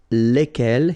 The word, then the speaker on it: lesquels: And the good news is that phonetically it's lesquels here for the masculine form and then lesquels for the feminine form. All right, so phonetically it's exactly the same when we talk about the plural form here, but then if